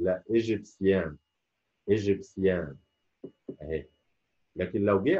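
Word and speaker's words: égyptien: شويه، زي ما اقول كلمه ناسيونال، ناشونال، ناشونال انطقها ناسيونال. اكسيون، مش اكسن، لا مش اكشن، لا اكسيون. ايجيبسيان، مش ايجيبشن، لا ايجيبسيان، ايجيبسيان اهي.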